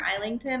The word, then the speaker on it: Islington: was lost by James Islington or isington I guess is how you say his name so I actually have